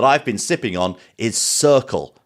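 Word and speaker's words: Cirkul: been sipping on is circle but that's spelled c-i-r-k-u-l you may know it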